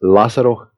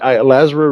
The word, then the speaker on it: Lazaro: And it's pronounced Lazero Ruiz. That's the correct pronunciation. But Lazro Ruiz will do.